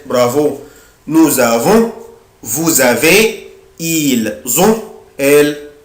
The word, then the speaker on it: nous avons: Ici je prononce la lettre S Z. bravo. nous avons vous avez ils ont elles ont.